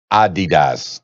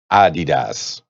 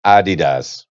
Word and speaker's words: Adidas: the CEO of Adidas that's how he pronounced it ah DDoS it's not adidas the whole time man Run DMC told me that it's my uh Dida's no it's Adi does according to them and if he's the